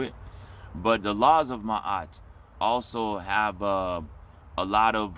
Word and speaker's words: Ma'at: The word is spelled the same way, almost the same way, but the way it's pronounced in Egypt, in Africa, is Ma'at.